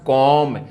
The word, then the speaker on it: comb: इसका देखो मैं, और ये बी साइलेंट है, तो इसका क्या हो जाएगा, कॉम।